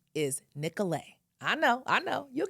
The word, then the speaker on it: Nicolet: We know that you want to say Nicolet. So we're going to say this kindly because of course we're Minnesota nice. But listen closely. The actual pronunciation is Nicolet.